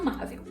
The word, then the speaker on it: amável: chamar a palavra tão amável amável e aí qual é a sílaba tônica é a sílaba mais forte ma isso mesmo nesse caso a palavra